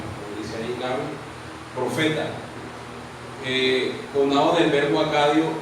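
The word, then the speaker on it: נביא: El profeta en hebreo se dice, o se pronuncia, o se escribe nabi, como dice ahí nabi, profeta, conado del verbo acadio nabú, llamar, y del árabe nabá, anunciar.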